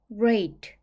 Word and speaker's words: rate: 소리를 내 주세요 레이트 한 번에 읽으면 레이 rate 속도 또는 비율이라는 뜻이에요 유는 씨가 거꾸로된 발음 기호의 소리로 오와 어의 중간 소리가나요 여기서는